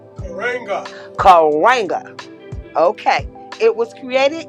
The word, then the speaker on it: Karenga: say it correctly please correct me dr mulatta karanja karenga karenga okay it was created in 1966 and